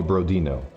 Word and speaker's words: Brodin: It's the same as you call me Brodino. Even though it's easy to to think it's that, but yeah, no, it's not Brodino, it's Brodin.